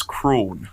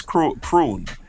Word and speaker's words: Crann: Crann. It's really. How do you think that is pronounced? Cran. You're right. You think Cran Guardians, right? Corn Guardians. You're wrong. It's Crawn. It's Crawn.